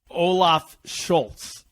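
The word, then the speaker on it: Olaf Scholz: his main competitor is the social democratic party olaf schultz am i saying that right he's the leader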